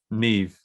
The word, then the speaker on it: Niamh: That's just the actress's name, Niamh.